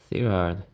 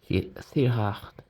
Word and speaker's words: Thirard: Right, so here's a disassembled lock, Federal S, Thirard, Thirard in French.